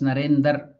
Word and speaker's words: Narendra: So he was calling Narendra as Narendar. So he's telling why Narendra Swami Vivekananda does not generally have these visions, but just see how great is his renunciation.